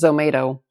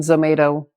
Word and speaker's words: Zomato: I thought up was Zomato. And I think it ticked all the boxes as far as spelling. It's tomato with a Z. If you told someone Zomato, it's tomato with a Z, they know how to, spell it back to you.